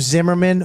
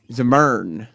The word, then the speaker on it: Zimmern: Zimmerman or Andrew Zim? What did you call it? Zimmern. Zimmern. Not Zimmerman, stupid.